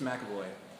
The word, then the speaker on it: McAvoy: That's how you pronounce it, even though there's Professor no A. X in McAvoy.